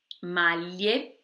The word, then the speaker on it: maglie: De novo, chama atenção ao GLI, maglie, e a gente tem que pronunciar esse E no final, maglie, porque a gente não pode comer ele, senão não dá sentido para a palavra, né?